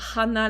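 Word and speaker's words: 花: y a Anna effectivement Annna sans hache c'est pas Hanna la fleur ou le nez là c'est bien Anna c'est un trou d'où l'importance de bien prononcer le H en japonais parce que si vous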